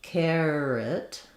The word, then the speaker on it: carrot: The challenge here is that the air is spelled with letters AR here. So earlier when we were looking at fair, we saw that with AIR. I do like to think of that diphthong as the air diphthong. We also spell that air with an A and an E, like in care. So you may just want to think about it like carrot.